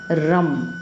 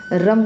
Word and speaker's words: रं: में दिखाई देगा उसका बीज मंत्र होता है रम आप रंग का भी उच्चारण कर सकते हैं रम का भी उच्चारण कर